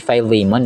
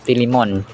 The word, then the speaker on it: Philemon: And by the way, ang pronunciation po nito ay filemon no sa American Acts or sa American English. Tapos sa Pilipino naman or sa tagalog ay nga no Philimon yung F Philimon mga kasumbreros.